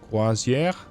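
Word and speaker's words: croisière: I probably didn't pronounce that one. Quazier. Yeah, that's more like it with the E being drawn back.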